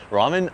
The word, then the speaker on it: ramen: Do you want to go get ramen or not? Because I'm going to leave right now. Ramen? Are you serious? No, it's ramen. It's like an L sound, but you kind of pronounce it R too.